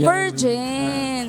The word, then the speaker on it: Ferjen: Ferjen or Ferhen? Hello po. Good morning po. Paano po ba bibigkasin yung pangalan ninyo? Ferjen. Ferjen.